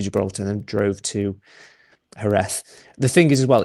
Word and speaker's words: Jerez: My mum pronounces it Jerez, which is obviously how it's spelled, but it's Jerez.